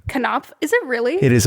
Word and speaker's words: Knopf: a publisher for this one i might also mispronounce uh it is knopf publishing group k k-n-o-p-f cannot cannot is it really it is a hardcame wild